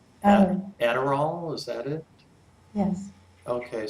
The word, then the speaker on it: Adderall: And Deborah, you might want to pronounce this word because I probably will get it wrong. Adderall, is that it?